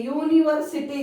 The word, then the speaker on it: university: Though it is started with vowel letter, it has ya sound, not a sound. Ya is not a vowel sound. Ya is y sound. Got it what I am telling? So when you get y sound, when using you, that time you are not using an, you are using a union minister, a university grants, a unicorn.